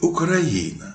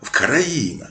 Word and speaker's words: Україна: Шевченка де казали що в українській мові якщо перед словом Україна закінчується на приголосну українці кажуть Україна А якщо наголосну то Вкраїна Саме через це українська